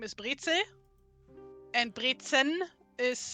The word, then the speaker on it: Brezel: Did I pronounce that at all right? Brezen? Brezel. Brezel. Not even the N, huh?